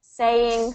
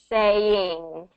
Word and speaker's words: saying: So I'm hearing sayin', and let me kind of show what the difference. Yeah. So sayin' versus saying. Yeah, so it's kind of in the back there.